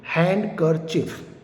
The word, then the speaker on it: handkerchief: Another example, handkerchief, HANDKERCHIEF, is that clear?